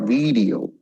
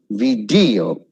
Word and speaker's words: video: Next is audio, audio, video, not video, video.